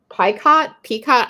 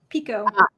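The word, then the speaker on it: picot: So the binding says it Peacock, I don't know how to pronounce it. Pico.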